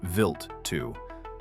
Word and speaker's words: Wild 2: January 2nd, 2004, NASA's Stardust spacecraft flew within 236 km of comet Wild 2, pronounced Vilt 2, a 5 km wide dirty snowball from the Kyper belt.